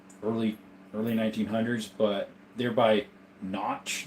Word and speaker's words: Kynoch: You can buy old boxes from like the 50s and early 1900s, but they're by Notch, the brand KYNOCH, I think it's pronounced Notched or spelled.